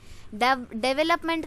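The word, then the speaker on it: development: फर्क नहीं होता है डेवलपमेंट आफ को गलत प्रोनाउंस करते हैं डिवेलपमेंट होता है ठीक है क्या होता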